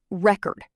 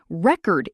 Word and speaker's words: record: Another one, record. Record is the noun. Record is the verb.